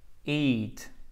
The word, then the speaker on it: eat: Et c'est pas hit comme ça. Ok, c'est pas hit, c'est eat. Eat. Faites pas de H, s'il vous plaît.